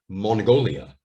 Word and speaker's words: Mongolia: So it's mon, go, li, Mongolia.